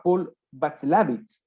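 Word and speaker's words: Watzlawick: Y fueron propuestos por un psicólogo que se llamaba Paul Václavitz, ¿ya? Me parece que así se pronuncia el apellido, que era un psicólogo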